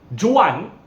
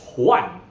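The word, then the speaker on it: Juan: from English for example the letter J is pronounced similar to H in Spanish and maybe someone's name would be come across if you read in English as Jan j u a n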